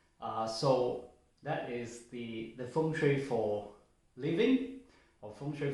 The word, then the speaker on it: feng shui: so in the last video we talked about feng shui so function is the pronunciation but what does the feng shui really